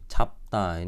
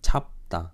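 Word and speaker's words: 짧다: 찹다 ini cara baca airan ini huruf rangkap ini. Itu ada di video awal banget belajar huruf itu. Cap menang biepnya, 찹다.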